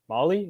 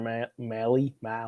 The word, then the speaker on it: Mahle: They got also Tyler Mahle. Is that how you say it? Mahle? Yep, from the Reds.